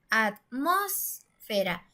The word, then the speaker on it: atmósfera: decimos a más será atmósfera si se dieron cuenta suena más fuerte en la antepenúltima sílaba es decir en las